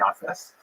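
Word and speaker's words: Japheth: Uh he has a son named Jaffit. In the Ashkanaz pronunciation that would be Yafis.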